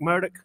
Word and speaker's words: Murdaugh: He pronounces his name Alec Murdaugh, which is apparently because